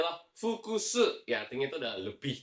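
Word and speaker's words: 複数: Bacanya adalah fukusu.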